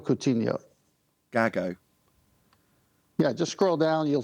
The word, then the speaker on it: Gago: Gacko. Am I on the right thing? I assume it's about a sextant, so it can't not be. Yeah, it's Gago Coutinho. Gago.